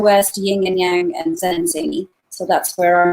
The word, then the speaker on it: Zen & Zany: Is that the right name to pronounce for your studio? Yeah, Zen and Zany.